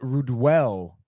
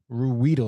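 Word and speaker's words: Ruhwedel: Chad Ruedel, Ruedel, I believe is how you say his name.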